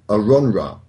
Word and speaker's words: AronRa: It has come to my attention that I have been pronouncing Aaron's name incorrectly for the last 3 years. His real name apparently is AronRa.